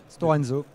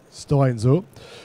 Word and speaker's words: Stora Enso: Est-ce que j'ai bien prononcé? Stora Enso. Stora Enso.